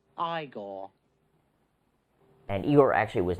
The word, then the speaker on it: Igor: In the movies, this is the part with Igor, by the way, his little henchman. No, it's pronounced Igor.